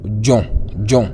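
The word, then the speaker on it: 重: maîtriser H donc ici la lettre ZH se prononce comme D. Hm D en français. Hm. Nous avons ici par exemple le mot jon qui veut dire lourd.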